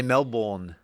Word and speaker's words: Melbourne: They don't know how to They say Mel-bone.